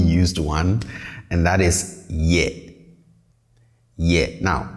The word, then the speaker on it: yɛ: one and that is yet yeah now please pay attention to how i pronounce this i say ye not yet okay so the tone is on the lower side yeah yeah not yet